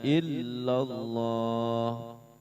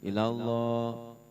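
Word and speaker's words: إلا الله: La ilaha illallah, bukan ilallah, bukan. Kalau gitu nggak ada tasdidnya. Illallah agak di apa sih, ayun dikit. Illallah gitu. La ilaha illallah, la ilaha illallah.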